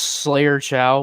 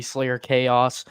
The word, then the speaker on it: Slayer Chow: Yeah, it's pronounced Slayer Chow, but I don't mind if people call me Slayer Chaos. I mean, if you guys are like Sonic nerds, like they're basically the same thing.